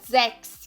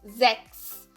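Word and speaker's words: sechs: O terceiro som que o CH pode ter é de KS, né? Como na palavra Sex, que é o número 6. Sex. Sex.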